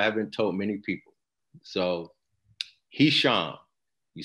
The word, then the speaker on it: Hisham: told many people so he shall you spell it h-i-s-h-a-m and I'll tell you a joke that lets people really remember his ham and I say that